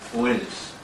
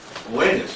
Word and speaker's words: Oannes: They had as a chief figure in their history Oannes. Oannes, and that's spelled O-A-N-N-E-S.